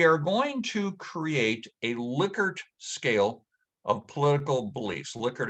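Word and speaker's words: Likert: ask you we are going to create a liquor scale of political beliefs liquor is spelled l-i-k-e-r-t and although you may not recognize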